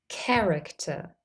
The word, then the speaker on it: character: have a C Sound in words borrowed from Greek we also say the C Sound for C the spelling is usually c h in those words listen to these examples